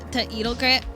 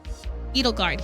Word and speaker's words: Edelgard: Is it Edelgus? Edelgus. Whatever, however you say her name. I just went straight to her house. I'm like, sign me up. I like you. You're cute. Be my friend. And then I ran away. Edelgard. There we go. Edelgard.